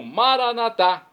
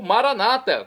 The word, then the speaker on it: Maranata: e agora eu clamo maranat como dizemos nós católicos ou Maranata como dizem nossos irmãos separados os evangélicos ou protestantes não importa a pronúncia o significado é o